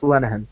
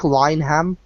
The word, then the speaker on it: Linehan: And for those of you listening, yes, it's pronounced Linehan. It's an Irish name. Ah, okay. Yeah, it's pronounced Linehan. It looks like Lineham. It's not.